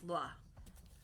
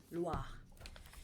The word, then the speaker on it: Loa: And um the Baron is said to be a Loa. Am I pronouncing it wrong? It's Loa. Loa.